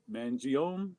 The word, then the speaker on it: Mangione: all right i love chuck how do you pronounce his last name mangione mangione but i'm from jersey so that me maybe